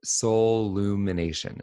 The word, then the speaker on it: Soullumination: There's only one L, like soul. So it's SOUL, and then it's UMINATION, like Soul Lumination.